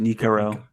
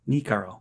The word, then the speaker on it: Nikaro: is a Niko pronounced nikaro n nikaro okay gotcha I thought it was an H there's no h there's no h okay forget it forget